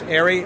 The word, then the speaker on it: Eric: when he said, when John was introduced him as Eric Leclerc, and he said, no, the C is silent, so it's Ari Leclerc.